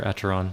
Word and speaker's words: Acheron: You have to pay Karen so we can ferry you across the river Acheron or Acheron, depending on how you want to pronounce it.